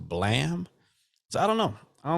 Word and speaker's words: Blame!: it's spelled it's spelled blame b-l-a-m-e with a exclamation point at the end but I was uh looking at the trailer one day and it was pronounced blam so I don't know